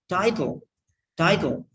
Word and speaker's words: title: Title. T-I-T-L-E. Title. It's title. T and la.